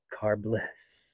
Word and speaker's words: Carbliss: me I should try car Bliss you have to say it like that that's one of the